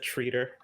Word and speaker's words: Treader: of the Dawn Treader I've heard it pronounced reader a couple of times either way that's correct two points and Jimmy Deary is up to bat who pronounces it treater no I'm around french-canadian sometimes Alex they do in fact pronounce it that way he's fitting that you're